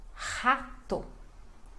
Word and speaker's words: rato: Isso, e a pronúncia é rato. Rato. Isso, este som. Rato. Rato. R começo de palavra, né? No português tem este som de R.